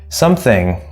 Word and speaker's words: something: that would be stressed it's a single syllable noun something the sum is the important part right something nothing everything